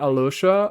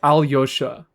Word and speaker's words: Alyosha: Alyosha. Not Ali? Yeah, like Alyosha.